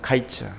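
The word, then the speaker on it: קַיִץ: 여기 그 여름 과일을 히브리어 이야기하면 카이츠입니다. 카이츠. 그리고 끝. 이건 히브리어로 캐츠입니다. 캐츠. 카이츠와 캐츠. 발음이 비슷하거든요.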